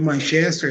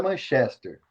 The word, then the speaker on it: Manchester: A pronúncia certa não é Manchester, é Manchester. Manchester United.